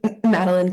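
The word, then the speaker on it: Madeleine: Um, my name is Maline. Um, it's spelled M A D E L E I N E.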